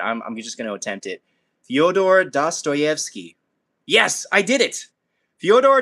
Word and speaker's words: Fyodor Dostoevsky: I'm gonna like butcher his name because I've been trying to pronounce it so many times, but I'm just gonna attempt it. Fyodor Dostoevsky.